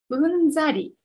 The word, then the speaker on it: うんざり: うんざり。うんざり。 1 彼のはうんざりした話に感動した。 2 電車で隣に座った人をうんざり見た。